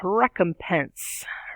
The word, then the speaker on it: recompense: sense in a moment recompense is three syllables rec um tense stress on the first third syllable there recompense is a split